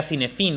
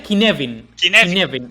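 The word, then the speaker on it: Cynefin: De hecho, yo siempre decía como tú bueno, yo decía cinefin o cinefin, pero cuando le escuché decirlo, no, él llama... Es una palabra galesa, no claro, sé ni cómo polla se pronuncia. Se pronuncia Kinevin.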